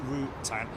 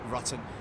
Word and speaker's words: Rutan: a legendary long EZ is pronounced Routan and not ruton but rutan's also built